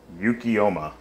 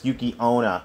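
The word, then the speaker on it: Yuki-onna: uh yukiyoma oh boy yukiyoma um I don't know who that is okay oh wait wait no wait no I'm saying it wait I'm saying it wrong it's yukiona my bad it's yukiona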